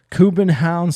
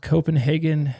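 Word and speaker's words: København: quarterfinals manchester united versus fc kubenhaun sir are pronounced copenhagen stateside rain energy stadion we're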